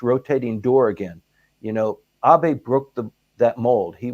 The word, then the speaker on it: Abe: door again you know AB broke the that old he was the longest serving prime minister people actually went from pronouncing his name from ABE to actually ab and that only took